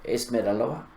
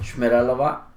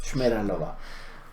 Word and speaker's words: Šmeralova: favor, ¿me puede decir dónde queda la calle Esmeralova? Y él dice, Šmeralova. Y yo digo, wow, qué diferencia entre lo que él acaba de decir y lo que yo le pregunté. O sea, no es Esmeralova, es Šmeralova.